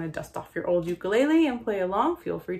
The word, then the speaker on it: ukulele: to bring out my ukulele or as it's pronounced the ukulele a fun fact about the ukulele is that